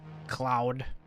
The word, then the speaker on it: Claude: it loading come on I got limited time Cloud how do you say it chat c l a u d e cloud Claude did not go through Claude